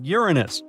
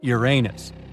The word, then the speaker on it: Uranus: Actually, astronomers say we should be pronouncing it like Uranus, not Uranus. I can't say a different stress changes much, though.